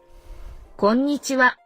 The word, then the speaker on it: こんにちは: こんにちは。 Again, the ha here is pronounced wa because they love to do that.